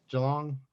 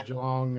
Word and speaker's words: Geelong: from is geelong or geelong how do you pronounce it geelong sorry a bit slow on the uh a